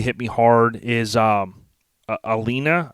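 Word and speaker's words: Alaina: me hard is um alina i believe is how you say her name a-l-a-i-n-a stark on october 22nd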